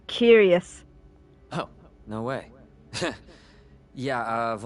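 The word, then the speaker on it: cuirass: the chest part of the armor oh it's pronounced curious oh no way yeah I've only ever read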